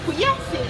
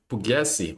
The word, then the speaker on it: Pugliesi: Pugliesi, yeah. Pugliesi. Oh, Pugliesi. Ah, that's how you say it. You pronounce it.